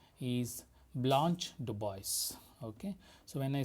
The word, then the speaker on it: DuBois: her name is Blanche DuBois. Okay, so when I say Blanche DuBois, what you can see that the surname DuBois is of French origin.